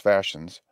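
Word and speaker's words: fascines: breastwork the word is pronounced gavins the fashions pronounced fashions are as i said bundles of brush bound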